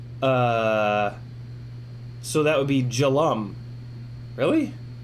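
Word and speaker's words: Jelle: last e of my so the last e of my name pronounce it as a u like um uh so that would be jalam really jellum captain really j-e-l-l-e becomes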